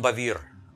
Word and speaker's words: Bevere: made by john beaver i call him john bavir because i know another person he's a writer and we pronounce him john bevere but the spelling is the same but the way they pronounce it a little differently so but look how